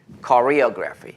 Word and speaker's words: choreography: Coreography. 이게 약간 한국 그래 B 같은 느낌이 나요. 코리아랑 되게 비슷한 발음이 납니다.